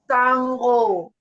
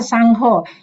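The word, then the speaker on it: Saṅgho: s ah yes so the N with the dot is always NG yes Sango correct yes so also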